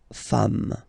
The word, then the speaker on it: femmes: singular form, and then you just add this S at the end, and as we said, you don't pronounce it, so you get des femmes, okay?